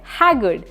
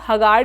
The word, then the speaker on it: haggard: थका हुआ का एडजेक्टिव होता है हैगर्ड। इसको बहुत सारे लोग हगार्ड भी बोलते हैं, जो कि इनकरेक्ट होता है। इसकी करेक्ट प्रोनाउंसिएशन है हैगर्ड, और हैगर्ड का मतलब है